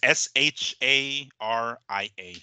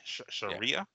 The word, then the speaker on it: Sharia: the Quran and the Hadith um so it's s h a r i a Sharia Sharia Sharia I thought I was close until you